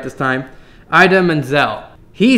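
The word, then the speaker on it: Idina Menzel: going to say it hopefully right this time Ida Manzel he said it like this please welcome the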